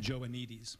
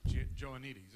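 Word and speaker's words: Joannides: You're going over George, how do you pronounce his last name again? Joanides. Joanides, okay.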